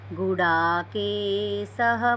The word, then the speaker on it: गुडाकेशः: आपका उच्चारण ठीक है, लेकिन ये गुड़ा के स बोले तो स, ये सरसों वाला स बोले आप, वास्तव में ये शहद वाला स है।